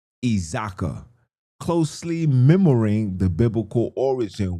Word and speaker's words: iZakhi: It says, "The name Isaac is Isaac, excuse me, in Easy closer is typically translated as iZakhi, pronounced iZaka, closely mirroring the biblical origin while being adapted to being adapted to isiXhosa phonics breakdown.